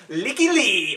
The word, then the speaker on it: Lykke Li: quite sure Callie melody I heard her pronounce her own name is coming Lykke Li yeah that's like that easier it's like week yeah we probably won't get